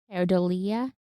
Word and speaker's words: pareidolia: Yeah, I had pronounced it very differently, but it's Perodia.